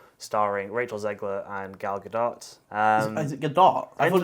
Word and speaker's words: Gadot: Rachel Zegler and Gal Gadot. Is it Gadot? I thought it was Gadot. It ends with a T, so I've always pronounced it Gal Gadot, but I guess that'd be the French pronunciation, and she's Israeli.